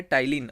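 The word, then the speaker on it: ptyalin: क्या होता है, टाइलिन। ऑप्शन नंबर कौन सा है, बी इज the right answer. ये पी जो होता है यहाँ पे साइलेंट होता है।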